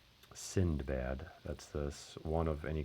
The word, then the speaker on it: Sindbad: I always thought it was Sinbad. I don't know if there's a couple different versions of it in terms of like how you say it, but Sindbad.